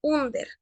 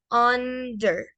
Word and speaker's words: under: Entonces, esta palabra no es under, sino vendría siendo under, under. Recordemos, la pronunciación de la R es una pronunciación suave.